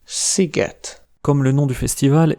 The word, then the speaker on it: sziget: La plus inhabituelle, c’est que S se prononce [ʃ], comme dans sós (salé), et le son [s] est écrit SZ, comme dans szósz (sauce), ou encore sziget (comme le nom du festival, et ça veut dire « île »).